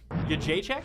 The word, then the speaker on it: Jędrzejczyk: sure yeah all right so say it again y j Che y j check yeah so it starts with the Y the J is a y sound